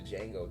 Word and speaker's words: Django: rugrats i watch the django too the django yes i watched the django too what did he say in the movie john about his name the d is what oh the d is silent yeah but i preferred